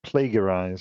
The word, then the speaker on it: plagiarize: Because he says plague, he uses a hard G. All right. He says plagiarize.